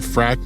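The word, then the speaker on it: Phrack: longest-running online journal called Frack Magazine. Frack is spelled in leet speak as Prhack, and Taryn King and Night Lightning founded it in 1985.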